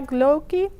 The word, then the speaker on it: glögi: Or you can even try glögi to pronounce it.